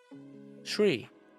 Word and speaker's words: Sri: Oh, Sri as in C but with an R. Shri. Shri.